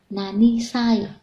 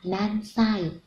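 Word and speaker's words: 何: Ví dụ, Teresa chẳng qua nan sai desu ka? Thì sai là hậu tố chỉ cách đếm tuổi, cho nên chúng ta không được nói là nani sai, mà phải nói là nan sai.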